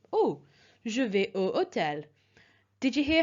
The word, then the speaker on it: hôtel: If you remember, this was nouns beginning with a silent H or with a vowel, so hôtel here.